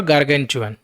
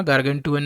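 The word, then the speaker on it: gargantuan: अब ये T silent नहीं है, टी का साउंड चू है, गार्गेंचुअन। टी बोलते बोलते नहीं जाना, पर चा का उच्चारण निकालना है, गार्गेंचुअन। पूरा टी नहीं बोलना, गार्गेंटुअन नहीं, गार्गेंचुअन। जैसे स्टेशन में बोलते हैं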